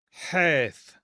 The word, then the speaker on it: Heth: Heth. This is that rough H. Okay. And sometimes this will be pronounced with the ch sound as well.